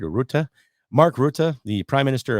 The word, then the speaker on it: Rutte: Frank Boot, did I say it right? Or Rutte?